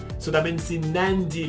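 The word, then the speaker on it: Nadi: or not the airport or anything that it's nandi so a word that will have a D in the middle camera husband and just before the D so that means in nandi like like Nando's but like think about multiple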